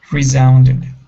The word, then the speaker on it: resounded: next is resounded so this is going to be a voiced s here instead of resounded re resounded resounded okay good and our